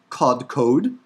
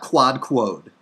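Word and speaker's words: קדקד: Here, the Hebrew word for forehead, kodkod. Kodkod. There's the kodkod. Right, not quad-quod. Don't be ridiculous. Kodkod.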